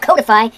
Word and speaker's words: codify: pronounced codified not codify it comes from the word code it's spelled with but